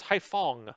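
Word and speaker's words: Haiphong: saigon is um this one is i don't pronounce this well so i don't say it all oh it's haifang haifang okay hong kong is we can start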